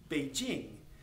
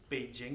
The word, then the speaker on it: Beijing: If you hear the Americans say Beijing, they actually say Beijing. Okay, and it's not Beijing, it's Beijing. So the J is much harder than how we pronounce it.